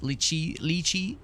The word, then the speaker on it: lychee: Lychee is pronounced like cheese. Lychee, rather.